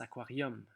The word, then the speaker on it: aquarium: Peut-être que tu pourrais transformer le U en bocal de poisson rouge ou un petit aquarium, puisque ça s'écrit aquarium, mais on prononce aquarium.